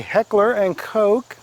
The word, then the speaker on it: Heckler & Koch: course it is a heckler & koch that is how it's pronounced it is German which is European as